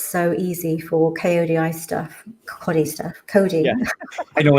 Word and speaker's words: Kodi: I know you guys pronounce it Cody, but around my area where I was living, people were calling it Coddy.